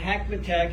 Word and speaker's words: Hackmatack: after me okay everybody kind of rhymes with big mac attacks and actually though hackmantac is an algonquin indian